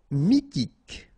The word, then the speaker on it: mythique: Mythique, remember, Q-U at the end, k, okay, and then Y is pronounced like I, mi, H is not pronounced, T, mythique, d'origine, nomade,